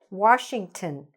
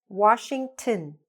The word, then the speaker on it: Washington: You should say: "Washington". Listen again: "Washington", "tin".